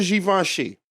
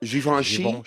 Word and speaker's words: Givenchy: These are Givenchy. So these are some fly How do you say that? Givenchy.